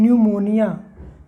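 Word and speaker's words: pneumonia: को इस गड़बड़ी है P N-you M ओ एन आई ऐ एस हम इसको पड़ते हैं न्यूमोनिया तपड़ते न्यूमोनिया पढ़ते यहां पर यह जो है वह साइलेंट है क्या यह साइलेंट है इसी तरह से फॉरवर्ड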